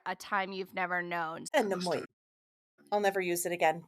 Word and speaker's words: anemoia: Yeah, Anemoia. So the Anemoia? pronunciation is Anemoia, and it is nostalgia for a time you've never known. Anemoia.